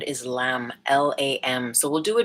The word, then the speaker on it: Lam: And that sound is Lam, L-A-M.